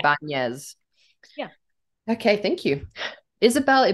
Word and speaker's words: Ibañez: So it goes Nya, yeah, Ibañez.